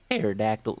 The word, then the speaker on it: pterodactyl: Plus, I'm pretty sure that if a boat in the sky is sinking, that'll be more like you're riding a pterodactyl. The P is silent.